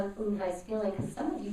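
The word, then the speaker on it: Unhei: Uni? The girl said, scrunching up her face. Uni, said Kate Stanton. No, Eunhai corrected. It's spelled U-N-H-E-I. It's pronounced Eunhai. Oh, it's you-hey, the boy said, like you.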